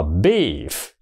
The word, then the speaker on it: beef: nó chỉ đúng chưa nó đọc là beef beef là thịt bò còn cái chữ thứ